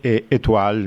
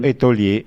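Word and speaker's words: étoile: anche Marco per eh in francese etual mi sembra che si pronunci e io ho detto etolie e stra Eh vabbè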